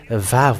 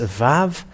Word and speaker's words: Vav: So even if you will say Vav with W-A-W or just Vav, it's always a V, the pronunciation.